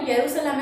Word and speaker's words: यरूशलेम: इसकी कैपिटल यरूशलेम, ठीक है, बट इसकी प्रोनाउंसिएशन जो है वो यरूशलेम है, इसको हम लिखते हैं वो जेरूशलेम लिखते हैं, ठीक है।